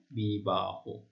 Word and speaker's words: বিবাহ: বিশেষ্যের শেষে যদি হ থাকে, যেমন দেখো বিবাহ একটি বিশেষ শব্দ, তার শেষে হ ধ্বনি রয়েছে, সেজন্য হ মানে হ এর সাথে অ রয়েছে, অ এর উচ্চারণটি ও এর মতো হবে। কেমন? বিবাহ।